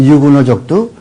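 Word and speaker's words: huguenot: 여기 프랑스 사람들도 유구노족도 훌륭한 사람들 유구노. 이 유구노족도요. 유구노족들 이 프랑스에서 칼빈주의자를 유구노라고 이야기해요. 프랑스 말이 H는 발음하지 않거든. 그러니까 유구노족이라고 그러죠.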